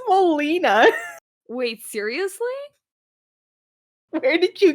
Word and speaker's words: Molina: Alfred Montoya. That's Is that not not his how you pronounce his name.